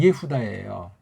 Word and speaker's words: 예후다: 아람에 대해서도 관심 두는 사람 없고, 유대인지 이게 구약 발음은 예후다예요.